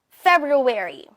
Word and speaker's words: February: Second option, ito, di umano, ay ang less used or the traditional pronunciation in American English, February. February. February. Dinig yung dalawang R sounds, di ba?